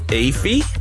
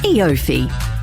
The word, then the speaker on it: EOFY: now once a year there's a word you can read but can't quite pronounce ifi e offi e5 it's eofy and this end of